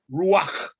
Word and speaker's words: Ruach: Ruach, that's how it is pronounced.